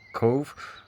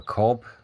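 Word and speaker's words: Cobh: Well, it would have gone from Southampton to Queenstown, which is now called Cove or Cobb, depending how you say it.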